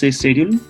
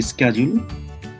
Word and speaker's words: schedule: this one timetable okay a british schedule americans say schedule they did not have